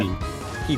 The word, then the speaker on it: Hebe: Hebe. It's Hebe? Yep. I've been pronouncing it bad. Oh, my bad. Alright. Yeah, I'm just basing it off the actual like pronunciation of the Goddess of Youth.